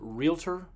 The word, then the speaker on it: Realtor: Notice I pronounced it realtor. Don't say realtor. It's two syllables.